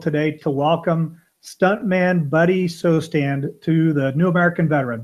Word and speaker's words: Sosthand: am really tickled today to welcome stuntman buddy so stand to the new American veteran buddy did I